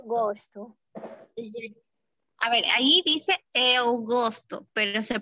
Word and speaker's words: eu gosto: A ver, ahí dice eu gosto, pero se pronuncia eu gosto.